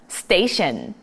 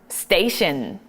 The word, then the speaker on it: station: 이건 그냥 공식으로 암기하세요. TION은 션. 어떻게 읽어준다? TION은 션이라고 읽어준다라는 겁니다. 자, 그래가지고 우리 TION으로 끝나는 게 뭐가 있을까? 지하철, 역이라고 말할 때 우리가 station이라 이렇게 발음을 한다라는 거.